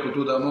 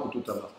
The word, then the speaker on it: Kotodama: Alors, on peut dire Kotodama ou Kototama. Ça n'a pas d'importance, la prononciation des deux sont bonnes.